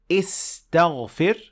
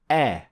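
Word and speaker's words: أستغفر: So when you say the dua, you don't say istaghfir, but you say astaghfir, astaghfirullah.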